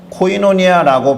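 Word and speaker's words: κοινωνία: 코이노니아라고 발음되는 이 단어입니다.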